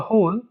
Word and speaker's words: whole: का first word है, first letter है W, इट is silent. Okay, W is silent. C, we are the parts that make up the whole, and we have got our eyes on a common goal.